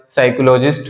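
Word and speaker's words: psychologist: शाम हो गया, न्यूमेटिक्स हो गया, साइकोलॉजी हो गया, साइकोलॉजिस्ट हो गया, इसमें सभी एग्जांपल्स में हमारा जो पी है वो कैसा रहा है, साइलेंट रहा है।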